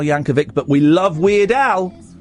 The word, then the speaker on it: Yankovic: A bit of Weird Al Yanovic. Can I Can I correct you? Yes. It's a hard C. Weird Yanovic. He's been on the show a couple of times. It's Weird Al Yankovic, but we love Weird Al.